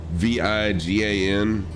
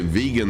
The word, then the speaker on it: Vigan: I know I'm not saying it right, but that's what it looks like to me. This airport right here, VIGAN. I'm sure it's Vigan or Vigen or something like that, but I pronounced it vegan the other day during my stream, and someone was making a joke about it, So I'm not flying real time.